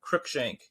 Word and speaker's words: Crookshank: I have Houston Carson safe and Crookshank.